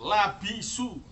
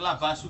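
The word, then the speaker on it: لَبِسُوا: Labisu padha ngenggo, labisu bukan labasu, awas. Kalau bacanya labasu nanti keliru.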